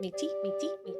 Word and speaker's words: Métis: And thank you for the pronunciation correction. Métis.